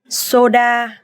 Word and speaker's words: soda: Soda. Soda. Soda. Soda, soda, soda, because the O sound in Vietnamese is O and A sound in Vietnamese is A, so soda.